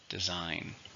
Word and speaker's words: design: it's a countable noun how many syllables designer three stressed on a second designer many fashion designers are